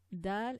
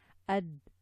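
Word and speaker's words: د: Dal and ta are sometimes mixed up because you can, if you give the quality of air to dal, for example, it can sound like ta. Dal doesn't have the quality of the air coming out, so ad, dal, da, like this. ad, ad, da, da, at, ad. Yeah. So if you give dal some air, it will sound like da, and vice versa.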